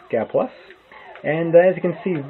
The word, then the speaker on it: Gaplus: some guy plus today g a plus p l u s is how uh to spell and pronounce the name gapless and as you can